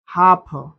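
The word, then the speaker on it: half: अब यहां पर देखिए साइलेंट वर्ड जैसे वक टॉक और हाफ ऐसे कुछ ऐसे वर्ड्स होते हैं जो इसमें देखिए इसमें एल क्या है?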